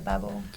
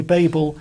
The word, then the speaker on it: Babel: Tik Tok a lot I hear Babble I just heard it from the from an interview with the author herself and she said Babble she said Babble as well I just stuck with it okay okay so either is completely fine um and it's interesting